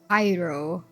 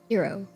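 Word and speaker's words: gyro: G like an H. Is is is is it like how do you pronounce the Y though? Is it cuz like Okay. Cuz I've heard like hero and like also like hyro like hero. Hero.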